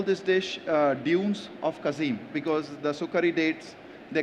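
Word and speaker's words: Qassim: dish uh Dunes of kazim because the sukari dates they come from kazim and if my pronunciation is right kazim yes kazim is good and uh that's what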